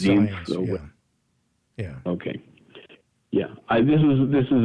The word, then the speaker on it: Zients: Okay, and this is what you On the other hand, this is what you wrote about Jeff Zients.